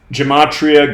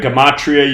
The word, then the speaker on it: gematria: new to this subject gematria gamatria you can pronounce it either way g-e-m-a-t-r-i-a an ancient practice